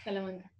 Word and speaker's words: Salamanca: Is that how I pronounce it? Yeah. Yeah. Salamanca.